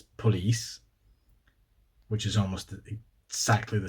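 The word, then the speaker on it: polis: Granted, it's pronounced like police in Swedish, it's police, which is almost exactly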